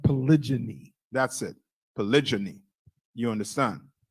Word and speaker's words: polygyny: I believe it's pronounced polygyny.